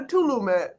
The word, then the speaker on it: Tulum: vacation from the pod i went to telugu tulum yeah you got to say it like that the first time i saw salute i'm not going to lie i said to love i'm like why is everybody going to tulum